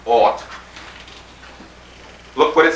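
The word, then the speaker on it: אות: It's spelled A-F-T, pronounced ought.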